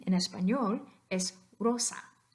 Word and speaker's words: Rosa: voiced version but here the S comes before a vowel it definitely doesn't come before a voiced consonant so it's still going to be s so the correct pronunciation in espanol is Rosa not Rosa it's Rosa